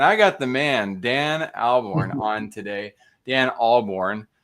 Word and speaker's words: Ahlborn: Just if you don't think there's an H, you'll pronounce it correctly.